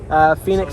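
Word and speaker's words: Fenix: Phoenix Suspension, but it's spelled F-E-N-I-X.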